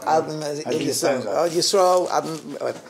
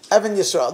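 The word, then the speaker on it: Even Yisrael: I heard this from Adnan Steinsaltz, or Adnan Yisrael. This is what he said. Yeah, Evan Yisrael.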